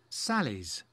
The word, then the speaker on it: Sally's: Sally's aunt. Very, very important. You have to pronounce the S, Sally's.